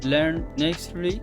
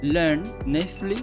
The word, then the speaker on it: Learn Natively: Entonces, la segunda página de las que les voy a hablar se llama Learn Nextly. Mi inglés sigue siendo una puta mierda. Disculpen por la pronunciación. Vamos de nuevo. Learn Natively.